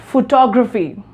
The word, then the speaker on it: photography: It's going to change really much, and it's pronunciation is photography, photography, right?